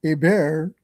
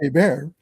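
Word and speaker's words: Hébert: Well, Abear is spelled H E R Bert T, so it's Herbert, but it's pronounced Abear.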